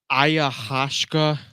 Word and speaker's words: ayahuasca: happens at a ayahuasca?